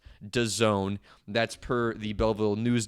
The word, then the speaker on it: DAZN: trying to sell to Don Dazn, but pronounced Done.